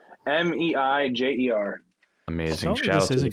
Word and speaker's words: Meijer: And don't they spell it with like a J? Yeah. Yeah, because it's his last name, and I'm pretty sure it's French. Meijer.